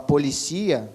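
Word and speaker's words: policía: igual, como, por exemplo, academia, que em espanhol se fala academia, polícia, que em espanhol se fala policia, são palavras com a mesma escrita, cara, idênticas, mas mudam o quê? Mudam a sílaba tônica.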